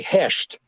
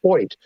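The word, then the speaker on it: Hoecht: Michael Hoyt a linebacker it's it looks like heshed it's h-o-e-c-h-t but it's pronounced Point okay he came on I believe he had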